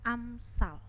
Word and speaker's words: Amsal: AMS itu bacanya Amsal.